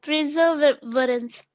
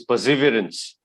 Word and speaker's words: perseverance: next one yes sir uh preservance that's that different preserve is different this is perseverance perseverance perseverance perseverance what